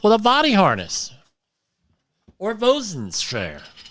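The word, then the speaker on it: boatswain's: a body harness or bosun's chair. I never understood why it's spelled boatswains and you say bosun's chair.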